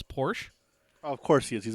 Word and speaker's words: Porsche: as it turns out he does not pronounce the at the end of Portia he just says Porsche of course he is